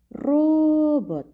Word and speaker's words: робот: і позначаємо наголос тепер робот правильно де ми наголошуємо на першому складі ро робот наголос буде